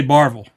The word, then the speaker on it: Barberville: So how do you say Barberville? He's dead. Barberville. Barberville. Barberville. You just say Barville. Barble. Barberville. Barville. You Yeah. want to put One marbles syllable.